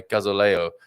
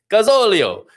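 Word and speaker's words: gasóleo: which i'm expecting after my gazaleo pronunciation gazolio is how it should be that sounded a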